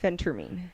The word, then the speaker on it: phentermine: know how to pronounce this how do you pronounce that Phentermine okay what is that so Phentermine is not